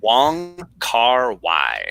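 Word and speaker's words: Wong Kar-wai: Wong Kar Wai.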